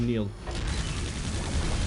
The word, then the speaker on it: Nihil: Well, actually, it's pronounced Neil. I don't think it's supposed to pronounce the H.